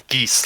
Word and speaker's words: geas: if you make things like dominate person, I think I've always heard it pronounced Gish or Gish. It's geese, like honk.